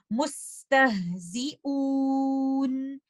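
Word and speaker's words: مستهزئون: And we will recite it like this. Mustahzi'un. Don't say mustahzi'un. I'm adding gunna, which is not required because gunna is only part of letter noon and letter meme.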